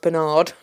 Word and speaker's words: Bernard: I like it when it's pronounced Bernard.